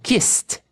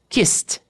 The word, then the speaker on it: kissed: Kissed. Kissed.